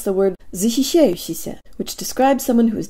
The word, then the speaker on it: защищающийся: Keep the tongue high and forward and say E with the jaw slightly forward, tip of the tongue behind the bottom teeth, lips rounded and protruded.